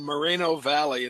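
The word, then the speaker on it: Moreno Valley: the city pronounce it, but I'm going to pronounce it uh Buena Park and Mareno Valley.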